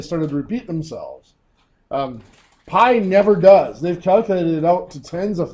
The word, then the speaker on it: pi: forever Pi that is pi it's pronounced it's actually spelled just pi but it's pronounced Pi just like apple pie or whatever it doesn't